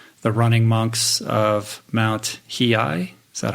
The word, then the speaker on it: Hiei: You travel to Japan and spend time with the running monks of Mount Hiei. Is that how you say it? Yeah, Hiei, right? I would say that you pronounce it as perfectly as as an American could.